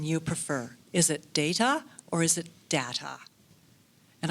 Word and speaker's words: Data: inspired me to use the pronunciation data and I always pronounce that tea very crisply not like a d as in data or data data data always a date top so it really got